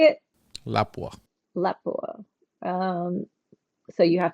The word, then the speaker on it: Lapua: Lapua.